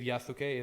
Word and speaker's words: Yasuke: want to say it I believe yasuke is like the correct way to say in Japanese um so like there